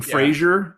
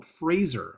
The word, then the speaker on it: Fraser: of my life saying Frazier and then I saw a video of him explaining that it's like Razer with it with an FR before it and I was like oh Fraser I've been one of